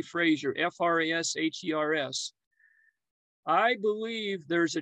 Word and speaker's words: Frasher: name was burton frazier now it looks like it would be pronounced frasher but it's actually supposed to be fraser f-r-a-s-h-e-r-s i believe there's